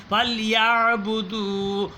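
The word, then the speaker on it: يعبدوا: ওয়াস-সাইফ না হইরা ওয়াস-সাইফ, ইয়াবুদু তো আইনটা উচ্চারণ হইল না, তাহলে শুদ্ধ হইল না। ফালইয়াবুদু রব্বা হাযাল বাইত আল্লাযী الذي أطعمهم من جوع وآمنهم من خوف.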